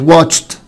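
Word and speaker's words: watched: او تشا شكل واتش، واتش يعني يشاهد، فبقت واتشت واتشت واتشت. الاي مش هتنطق والدي هتنطق تا.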